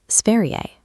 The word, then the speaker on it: Sverige: The word for the country, Sverige, has a soft ending. You pronounce it Sverige.